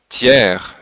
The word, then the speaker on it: tiers: Il y a des exceptions comme hier, hiver, fier et le mot tiers, le s n'est pas prononcé mais le R oui.